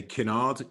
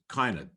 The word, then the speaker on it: Kinard: And those surnames are, I would say Kinard, K-I-N-A-R-D, but in Edgefield and environs, it is often pronounced Kynard.